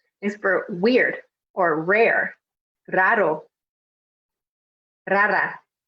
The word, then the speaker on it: raro: Is for weird or rare, raro, rara. This one is definitely a good one if you want to help practice the pronunciation of your R in Spanish with rolling your R's, or trilling it's called.